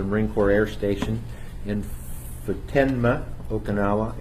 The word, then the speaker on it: Futenma: Corps Air Station in Futenma, Okinawa. It originally was called Fatima, and our hosts asked us to pronounce it differently.